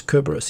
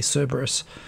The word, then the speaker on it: Cerberus: here cerberus kerberos tenshi i believe the latin pronunciation is kerberos even though i think most english speakers say cerberus because english is stupid uh you too no